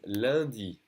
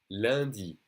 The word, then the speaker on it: lundi: Monday is lundi. Lundi. Okay, that UN is pronounced lundi.